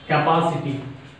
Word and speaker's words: capacity: So any word ends with ity, ian, ical, ize, logy, and graphy. Take stress on third syllable from the end, like this one. Capacity.